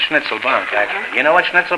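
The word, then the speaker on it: Schnitzelbank: pronounced oh pardon me schnitzel bank is a kind of an American uh pronunciation it's schnitzel bankk actually you know what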